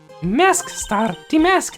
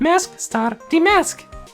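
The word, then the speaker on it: Mask☆DeMasque: this bad guy again mask star de mask Nick make a note of it mask star de mask we have to pronounce the star every time Maya it was terrible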